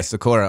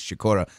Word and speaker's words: Sikora: Yeah, Sikora. Also, in the Polish pronunciation, which I tried to get down with a little bit, is Sikora. My grandmother would always say Sikora because it means Sikora.